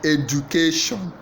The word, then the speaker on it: education: to the end okay which syllable is stress in the word education education a first syllable Ed education second syllable education third syllable education then D fourth syllable education the answer is education you stress the the C A so the answer is